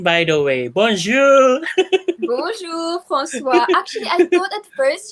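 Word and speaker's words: François: in in my head like a french way with the french accent of francois francois yeah yes there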